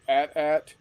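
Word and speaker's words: AT-AT: table uh using bigger battles with ats and atsts and yes it is pronounced at at it is not at it is at.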